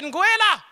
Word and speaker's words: Nguela: Er hat meinen Namen falsch ausgesprochen. * Lachen * Da wollte ich ihn korrigieren: "Hey, ich heisse Nguela!"